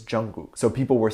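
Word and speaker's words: 정국: And apparently when translated to English, she used the characters to say gook, like Jungkook, because the proper Korean pronunciation for his name is Jungkook.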